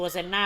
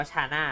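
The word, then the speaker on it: Shana: เรียบ ร้อย เอา ตัว เซน หน้า ไป แล้ว ชาน่า ป่า วะ เออ มัน อ่าน ว่า ชาน่า นะ ไม่ ใช่ เซ็น หน้า นะ โทษ ชาน่า โทษ ๆ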